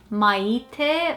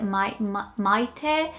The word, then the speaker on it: Maite: And in Portuguese, the secret, like if there's a secret to pronouncing this name, is to not put too much emphasis on the first part of the name. So it's literally Maite. It's the second half of the name that comes to life, and you don't focus on the A and the I at all.